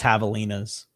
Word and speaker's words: Javelinas: I know it's pronounced with an H, but I don't know if that's how people in Arizona say. I think it's Javelinas.